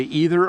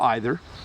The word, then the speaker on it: either: so here's the thing you can say either or either there's two pronunciations I use both and I don't ever